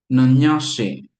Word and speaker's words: nanyashe: So this would be pronounced like or should be pronounced, I should say, not is, because I'm trying here. Nanyashe, nanyashe, nanyashe, like that.